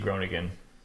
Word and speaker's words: Groningen: What is your role with FC Gronigan? So hopefully I'm pronouncing right um yeah you're good. Yeah, we've got the harder G so that makes it so that's hard to pronounce.